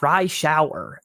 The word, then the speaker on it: Reischauer: it's like rye bread and you take a shower. Oh, rye shower.